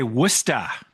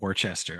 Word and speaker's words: Worcester: And you got to say Wora. Yeah. Not Warchester. Okay. Anyway, you know what? I'm Midwestern. I can do what I want. He's pulling an E and is pronouncing every letter.